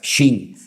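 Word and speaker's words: שׁ: que tiene doble pronunciación, porque si arriba te encuentras un punto a la derecha es shin, y si te encuentras arriba un punto a la izquierda es sin, pues ahí encontramos a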